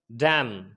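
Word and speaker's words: damn: अगर किसी वर्ड के अंदर एक साथ एम एन आ जाए तो एन वहाँ पर साइलेंट हो जाता है। फॉर एग्जाम्पल डैम, डैम के अंदर क्या हो गया, एन साइलेंट हो गया।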